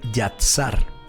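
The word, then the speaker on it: יצר: la palabra formar es una palabra hebrea que se escribe yatsar y a t s a e yasat yasar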